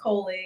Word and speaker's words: Coley: I don't want to say your name wrong. Is it Coley? Yeah, my name is Coley.